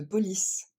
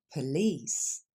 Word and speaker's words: police: coup d'œil premier exemple on ne dit pas the police on dit police on va le décomposer